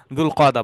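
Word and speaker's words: ذو القعدة: সো দুল কদা সঠিক উচ্চারণ, দুল হিজ্জা সঠিক উচ্চারণ। আমরা যে জিলকদ জিলহজ বলি এটা আসলে সঠিক উচ্চারণ না, ওইটা আমাদের, এটা কলকল হয়ে গেছে। এটা মূলত দুল কদা দুল হিজ্জা।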